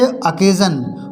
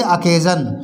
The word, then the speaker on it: occasion: इसी तरह से अकेजन, OCCASION, अकेजन, इसमें भी देखो SION यूज हुआ है लेकिन उससे पहले वोवेल ए आया हुआ है तो इसको बोलेंगे अकेजन।